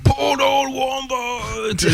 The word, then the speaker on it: Portal Wombat: On en parlait déjà il y a 2 semaines, à prononcer à la manière de Mortal Kombat. Donc Portal Wombat.